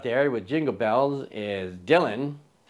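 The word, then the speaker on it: Django: with Jingle Bells is Dylan d j a n g o the D is silent and collectively we are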